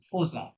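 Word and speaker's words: faisons: Phase, phase phase, ফেজন হবে না, stop, ফেজন হবে না। ফরাসিরা এই জিনিসটা কি বলে, ফোজন, কি বলে, ফোজন। অজ, লেখা ফজ আছে ফেজন, মানে লেখা আছে ফেজন কিন্তু বলে কি, ফোজন।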